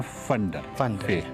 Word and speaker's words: फंडर: और अच्छा, लोकल इसको प्रोनाउंस करते हैं फंडर।